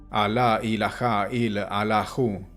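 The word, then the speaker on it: لا إله إلا الله: una frase en árabe que se pronuncia de la siguiente manera a la ilaha y al ajo y que quiere decir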